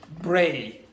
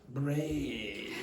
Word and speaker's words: Bray: Now, the pronunciation is Bray, not Bray.